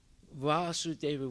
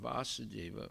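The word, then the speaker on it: Vāsudeva: supreme personality of godhead vasudeva with a long a indicates krishna and vasudeva with a short a indicates his father and then uh vyasadeva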